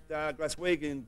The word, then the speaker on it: Glaswegian: Yet another great Glaswegian group. How do you pronounce that? That's Glaswegian, Molly.